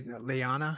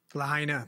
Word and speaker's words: Lahaina: Well, he's the Maui or the, how do you, Leana? How do you say it again? Lahaina, the Lahaina city police chief.